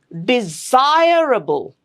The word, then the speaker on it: desirable: The rule is the syllable right before the suffix gets the stress.